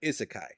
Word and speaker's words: isekai: First of all, it was not hentai. I know it's not hentai. I said it wrong. Suicide. Suicide Squad. Isakai.